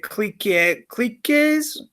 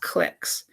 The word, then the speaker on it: cliques: I know it's got that QU and you might read it cliques. It's pronounced cliques.